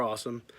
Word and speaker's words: AOSOM: I'm just going to pronounce it AOSOM because they are awesome, but it's spelled AOSOM.